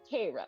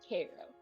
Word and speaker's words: Cairo: built on the Nile interesting it is called Koo they do pronounce it Koo but it is spelled Cairo and but what